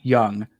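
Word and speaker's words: Jung: josh jace and josh young uh young is spelled with the j in case you didn't know j j u and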